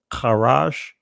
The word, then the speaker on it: charash: In other words, the Hebrew word that you'll see there, and I'm going to pronounce it from the ancient Hebrew, charash, which means be quiet.